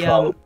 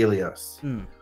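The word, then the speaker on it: Eleos: Federation ship that she's the Elos or Elos, isn't it? How do you pronounce it? The Elios.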